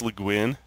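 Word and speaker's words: Le Guin: Is that how you pronounce LeGuin?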